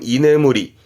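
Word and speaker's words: 居眠り: 발음은 이네무리.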